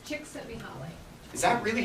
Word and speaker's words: Csikszentmihalyi: Christine, how do we pronounce his last name? Csikszentmihalyi.